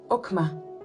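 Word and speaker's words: חכמה: Le premier est bien entendu le mot sagesse, qui se prononce okma.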